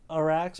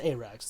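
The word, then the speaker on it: Arrax: keep it I mean the way it's spelled is like a racks but it's a Rex that's fine we'll need Chomps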